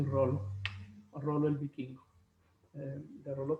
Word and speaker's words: Rollo: La pronunciación es así, Rollo.